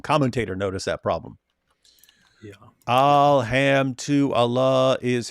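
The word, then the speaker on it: الحمد لله: Alham to Allah is how you pronounce it, right?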